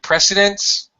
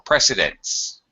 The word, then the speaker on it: precedence: uh oh boy salvator precedence or precedence again with homophones all right president or